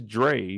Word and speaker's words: Dre: sister with you so they say her name is Dre but I heard them call her Drew one time for sure